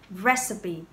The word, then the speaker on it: recipe: Từ này nhìn qua nó có vẻ là chỉ có hai âm tiết thôi, tuy nhiên có ba âm tiết, ok? Và các bạn đánh trọng âm vào âm tiết thứ nhất, recipe.